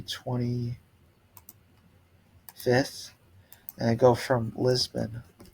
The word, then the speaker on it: Lisboa: If I go here and I come back to the 25th, and I go from Lisboa, that's how they say it, to I want to go to Porto, and me being I want to say Porto.